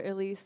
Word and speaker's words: Elese: Just sound very eclectic when you say it. Sounds like that's how I'm saying the name is pronounced.